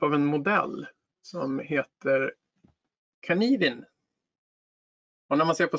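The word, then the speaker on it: Cynefin: Varför säger han Kanivin? Det står ju Synefin. Ja, det här är ett keltiskt ord. Och där uttalar man det tydligen på det sättet. Så Kanivin.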